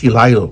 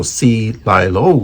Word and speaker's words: Celilo: It's Celilo, so it's pronounced Celilo, like C and then lying low. So and then lie like in lying, so Celilo, right?